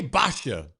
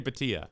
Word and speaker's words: Bhatia: And Akshay Basha, got to go lefty at 51-1. It's a brutal pronunciation. Yeah. It's a brutal pronunciation. Akshay Bhatia.